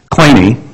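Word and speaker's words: Kleene: has that pronunciation right in English it looks like clean and we'll be claiming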